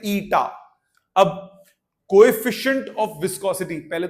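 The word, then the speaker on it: eta: ईटा इसका इसको प्रोनाउंस करते हैं ईटा।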